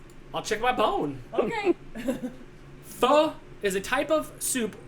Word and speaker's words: pho: Pho? Pho, it's spelled P-H-O.